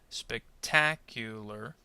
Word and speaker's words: spectacular: Now, where do you think the stress syllable is in this word? Well, if you said ta, spectacular, then you're correct.